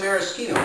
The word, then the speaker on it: maraschino: maraschino cherry and then I say mera schema because that is how you pronounce it in the same way